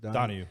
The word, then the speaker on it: Donaghy: Tim Donahue. I just saw a thing. I thought it was Donaghy. It is Donaghy. It's D-O-N-A-G-H-Y. Donahue, spelled the same.